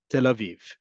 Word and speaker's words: Tel Aviv: And the name of this city is Tel Aviv. That yud indicates a long vowel folks. Okay. Tel aiv. It is a long vowel.